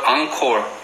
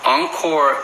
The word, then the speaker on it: Encore: 근데 발음은 말 그대로 Encore. 다시 한다는 뜻으로 Encore 이렇게 발음을 해요.